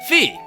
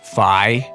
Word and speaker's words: Fi: links companion and guide fee isn't it pronounced fie shut up young town